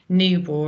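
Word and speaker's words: Niebuhr: called um ryin hold newb and I'm probably pronouncing that wrong it's NE e i n i e h no sorry n i e b u h u r thank you so you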